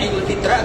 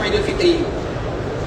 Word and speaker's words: Idul Fitri: Zakat fitri ya karena ee sama ya Idul kita membacanya Idul Fitra atau Idul Fitri. Idul Fitri kan.